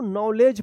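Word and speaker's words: knowledge: भी क्या है कि एन से पहले के आया है तो के साइलेंट रहेगा और इसमें देखिए डी और जी है तो इसका उच्चारण ज होगा तो क्या पढ़ेंगे इसको नॉलेज पढ़ेंगे पढ़ेंगे क्या पढ़ेंगे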